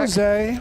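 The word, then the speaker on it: José: it what is it in Portuguese we pronounced the J whereas in whereas in Spanish and in Mexican it's it's h did you just say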